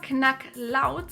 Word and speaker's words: Knacklaut: The term "knacklout" consists of two words: "knacken" - to crack, break, crunch, click and "Laut" - a sound.